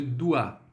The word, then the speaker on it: dois: O OI é o quê? Som de UA.